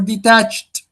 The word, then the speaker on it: detached: Is it detached or detached? Detached or detached? Detached. Detached. Detached. The stressed the syllable here is the second one.